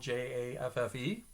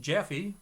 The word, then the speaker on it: Jaffe: last name is spelled j-a-f-f-e his name is pronounced jeffy whereas i pronounce my name jaffe sorry for the background